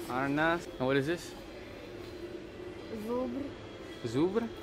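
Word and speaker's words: Żubr: Zubr.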